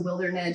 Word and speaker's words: Wildernedge: So it's spelled like wild, my last name, WILDE, and then RNEDGE. So Wildernedge, it's the idea of I'm meeting people at